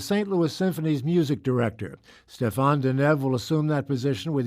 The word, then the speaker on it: Stéphane Denève: will be conducting here this week we welcome Stefan denev to our studio the first of what we